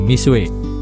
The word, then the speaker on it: Mixue: booming belakangan ini adalah merek misua tulisannya mix UE saya agak kesulitan pertama membacanya tapi setelah cari tahu ternyata bacaannya misui nah mereka ini jualannya